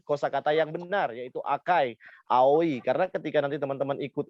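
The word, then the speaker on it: 青い: Jadi misalnya aoi, orang Jepang hanya bilang ao ya.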